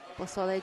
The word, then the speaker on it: pozole: Pozole jambalaya would be good. It's pozole. 3 syllables.